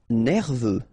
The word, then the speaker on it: nerveux: Nerveux, final X not pronounced, E-U, E, V, nerveux.